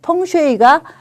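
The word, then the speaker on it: 風水: 펑슈이가 이게 풍수라는 그 중국 그 발음이거든요.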